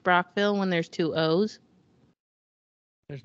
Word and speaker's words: Brockville: Oh, so, why is it pronounced Brockville when there's two O's? There's not two O's. What? You're just full of your questions here tonight, Becca. B-R-O-C-K-V-I-L-L-E. I accidentally said Brookville.